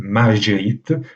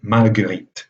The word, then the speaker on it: Marguerite: Le cas de ce cas-là est encore différent parce que le G, dans ce cas, évidemment, indique un G vélaire, c'est-à-dire qu'il ne faut pas prononcer Marguerite, mais Marguerite, comme en français moderne.